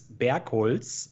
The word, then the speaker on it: Bergholz: from chamfer zone because nobody knows how to pronounce my last name you know like it's bear coils so uh so that's